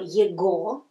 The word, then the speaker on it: его: I will not write all words, but very many words, when they have go at the end, this go pronounced like во.